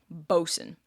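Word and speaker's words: boatswain: silly to be honest as far as I'm aware bosen is a bastardization of the Middle English word for it and that's just become the accepted pronunciation of the word now bosen anyways this new crew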